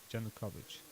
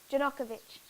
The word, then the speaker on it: Yanukovych: Yanukovych. Yanukovych.